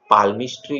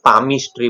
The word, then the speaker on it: palmistry: मेरे फॉर्चून के बारे में जानने के लिए मैंने बाइबल पढ़ी, पाल्मिस्ट्री गाइड पढ़ी, सॉरी उसे पाल्मिस्ट्री नहीं बोलेंगे, पामिस्ट्री बोलेंगे, एल इज साइलेंट।